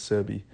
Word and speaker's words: Sebi: Dr sebie I think I believe that's how you pronounce it Dr sebbi or cie I believe it's sebbi um he was working